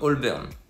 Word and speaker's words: Holborn: voilà mais aussi et ça se prononce plus comme all berne mais les gens le disent très vite et en fait ça